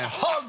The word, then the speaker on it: Hold: Oui, alors le H est expiré. Hold me closer.